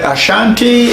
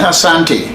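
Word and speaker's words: Asante: the word Ashanti and Asanti Asanti is what we really call ourselves the asantis but the English made it s they think that the pronunciation of uh aanti has to have H in it so sometimes uh I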